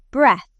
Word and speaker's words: breath: Breath. It has a short e sound, like in the word bed, and ends with a soft, quiet th sound.